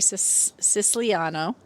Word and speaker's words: Siciliano: This one's from Terry Siciliano. Did I say her name right? You did. I did. I always feel like I want to say Siciliani for some reason.